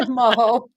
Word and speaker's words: Maho: Hi, Maho. Maho rhymes with Tahoe.